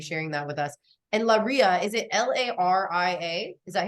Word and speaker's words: Leiria: My friend was like, Princess Leia, it's Leiria. I was like, okay. I was like, Leiria.